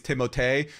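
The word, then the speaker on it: Timothée: F their names and Timothy shalam is timote did you hear Jake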